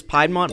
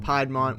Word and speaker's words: Piedmont: North Carolina's Piedmont biome is home to very few snakes. Alright, I get it. Zachary pronounces his words funny. I pronounced it Piedmont when it's supposed to be Piedmont.